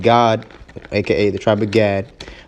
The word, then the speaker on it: Gad: the tribe of Gad, but it's pronounced God in the Hebrew, all right, which means troop.